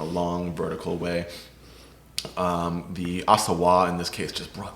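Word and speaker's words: Auxerrois: around, pop ups and things, like, what is Asawa? And, and I, the first time I read it, I certainly mispronounced it, but it's spelled A U X E R R O I S. So not phonetically Ossawa, but that's, that's how they pronounce it.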